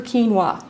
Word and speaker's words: quinoa: super grain so I like to call it super quinoa which will help you remember super Keen that'll stick in your brain forever quinoa Cooks just like